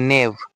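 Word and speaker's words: knave: নেভ। এটা হচ্ছে সাইলেন্ট।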